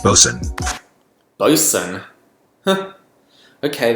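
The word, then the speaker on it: boatswain: is pronounced lowered and bosun is pronounced bosun oh you sing huh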